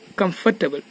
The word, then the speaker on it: comfortable: Some example we can see comfortable. The letter in between R is not pronounced.